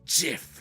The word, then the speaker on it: GIF: I almost said it's pronounced GIF.